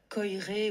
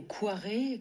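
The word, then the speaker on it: Koyré: C'est Alexandre Coiré ou Quiré selon les prononciations.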